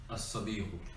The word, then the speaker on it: الصديق: الصديق. الصديق. Yes. Sad being a moon letter. So a sun letter, sorry. So the lam is not pronounced.